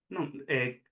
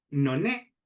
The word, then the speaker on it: non: n, nesta fai que moita xente acabe por pronunciar no ne en vez de non é, non, que é a pronuncia galega normal, conar nasal velar ao final de palabra, non é.